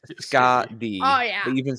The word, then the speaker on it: Skadi: And the Norse pronunciation is either Skadi, Skardi, or Skathi, depending on Skardi makes a lot how it's terms of related.